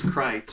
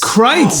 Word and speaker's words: Critz: the actual pronunciation is Critz. Critz.